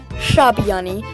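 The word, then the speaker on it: ށ: Next one is Shabiani, which makes a retroflex S sound, which is pronounced at the top of the mouth rather at the teeth. Sha, like a sha, and it looks like a shooting star.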